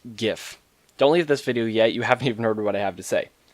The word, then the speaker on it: GIF: Many people pronounce it GIF with a hard G, while others GIF with a soft G. Well, I'm here to settle it once and for all with some fairly comprehensive arguments for why it is in fact GIF.